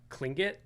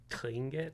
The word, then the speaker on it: Tlingit: So I was like, okay, what if I took this like, it's Tlingit, I think is how you're supposed to say it. It's spelled T-L-I, but it's kind of like Tlingit.